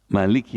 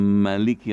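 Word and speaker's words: مالك: boleh mimnya dipendekin gitu Jadi boleh dibaca Malik pakai Panjang mimnya boleh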